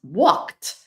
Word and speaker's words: walked: A T, as in the word walk. That's how it's pronounced. Walked.